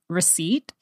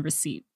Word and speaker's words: receipt: way until College was receipt and it was the same thing with knife uh the p is silent in receipt so throughout my entire